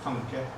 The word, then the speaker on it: tanke: and the second one is two-syllabic, tanke.